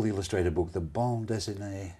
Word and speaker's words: bande dessinée: The bande dessinée. Bande dessinée. It's very easy to mispronounce it into something terrible, like a tattooed erection, isn't it? Have I said it right? I think you have, yes.